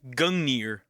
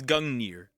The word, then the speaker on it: Gungnir: And I don't get it because Gungir is something so rare, even a Gungir. Gungir. So, it's Gungir.